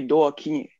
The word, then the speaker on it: Doo-Kingué: The name is originally from Cameroon. So it would be Doo-Kingué. But it's been okay. Anglicized and Gallicized by my father. So the actual way to pronounce it, or the way he pronounced it, was Doo-Kingué. So you can Doo-Kingué. Say okay. Doo-Kingué or Doo-Kingué if you're Anglophone, but neither one is actually correct.